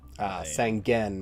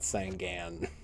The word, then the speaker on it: Sangen: Sangen, not Sangan.